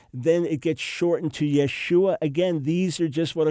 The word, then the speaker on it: Yeshua: It is Yeshua.